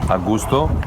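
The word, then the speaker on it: Augustów: - We are at Augustow, yeah I think I've got that right.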